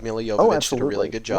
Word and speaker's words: Jovovich: Mila Jovovich or Jovovich, however you pronounce it, she's a really good actress. She knows what she's doing. It is Okay, it is Jovovich. It is It's Jovovich. Jovovich. Yeah, I looked this up That's why I beforehand.